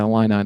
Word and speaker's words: Illini: Yeah, Illini. The fight in Illini. An Illini? Illini. Yeah, I couldn't spell it, but yeah, you know, like the only reason I know that.